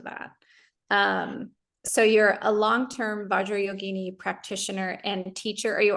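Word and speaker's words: Vajrayoginī: It's Vajrayogini. Vajrayogini. Yes. Okay. And that final long I makes the word feminine. Got it. Okay. If you say yogini, you're mixing up masculine words and feminine words.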